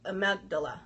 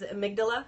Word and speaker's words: amygdala: the gland called the amount Dilla I'm like I was messed that one up is amygdala amygdala that's it I read it all